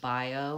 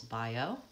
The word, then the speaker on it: bio: so I would say just bio with a it's the vowel I and then the oh and it's two syllables bio mantra the ah has